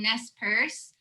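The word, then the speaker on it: Nez Perce: the relationship between the tribes and how to pronounce all of them yeah so the tribes are umatilla cayuse and nest purse um currently right now they're kind of like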